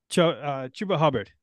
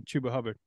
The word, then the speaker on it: Chuba Hubbard: All right, Chuba Hubbard. Chuba Hubbard, is that how you pronounce that one?